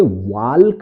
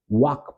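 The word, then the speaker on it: walk: के यहां पर दोस्तों एल जो है साइलेंट रहता है इसे बोला नहीं जाता इसे वाल्क नहीं पढ़ा जाता इसे वाक पढ़ते हैं दोस्तों वाक यानी चलना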